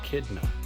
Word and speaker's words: echidna: And besides the jackalope and the platypus, this Miss Eileen just told me is an echidna.